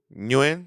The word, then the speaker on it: Nguyen: I don't know how to pronounce the NG last name, so I'm not gonna. I'm sorry. Nguyen. Nguyen.